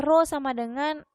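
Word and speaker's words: rho: selanjutnya massa jenis nama saja disitu sebelumnya adalah roh ya kayak P itu bukan peta piro bacanya Nah itu rumusnya adalah roh = m per v&m itu Apa itu masa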